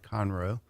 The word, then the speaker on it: Conroe: so I definitely like to say it right Conroe thank you for clarifying that for all the